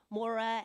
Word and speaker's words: Maire: little simpler and it's Maura and Chris all Spilled Out is that correct okay so and also I might mention it's spelled m-a-i-r-e not exactly the way we would pronounce it hear or spell it